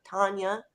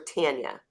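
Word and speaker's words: Tania: said hi to Tom Tanya see I I hate when people pronounce and mispronounce my daughter's name I spelled it t-a-n-i-a and everybody calls her Tanya and I'm like no it's still Tanya right okay all right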